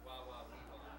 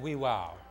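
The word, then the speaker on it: Wawaweewa: was that it was wow, wow, wee, wow. That's how you say it. Wow, wow, wee, wow. Oh, what did I say? I think I said wee, wow.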